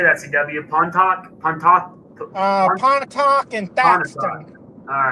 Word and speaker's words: Pontotoc: Pontotoc Pontotoc and Thaxton.